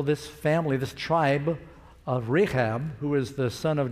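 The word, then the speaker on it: Rechab: they said no because our father reab reab is how you say it he commanded us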